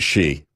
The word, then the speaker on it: Xi: like to call him xi I don't know why they they put his name out as X I and pronounce it she you know she is